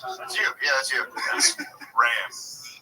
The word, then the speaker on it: Ramb: Ram. B. Yeah, but you spell it like lamb.